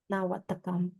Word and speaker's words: นวัตกรรม: Is that how you say it first? ยา Watakan. นวัตกรรม Nawatakam. Nawatakam? Wow, getting a Thai lesson.